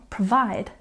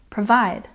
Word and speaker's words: provide: We put a stress on the second syllable, provide, provide.